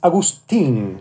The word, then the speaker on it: Agustín: It's actually, it's Agustín. Agustín with a tin at the end.